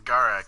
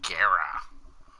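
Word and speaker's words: Gara: now in this game they will not say it's Gaara cuz that'll be copyright for Naruto so in this game they pronounce it Guerra which is just this [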